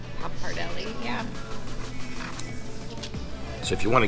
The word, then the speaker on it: pappardelle: Pappardelle? Pappardelle, yeah.